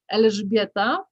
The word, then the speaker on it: Elżbieta: pronounce your name correctly the full name in polish is elizabeta but is also okay okay then um